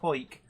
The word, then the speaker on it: Hawick: I know Hoik is written Howick, Hawick, but it's pronounced Hoik.